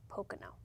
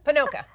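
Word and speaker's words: Ponoka: towards the Red Deer parts on the Pocono. I can't say that quickly. I'm getting slurred here. Panoka. Thank you. You're welcome. You're welcome. Panoka.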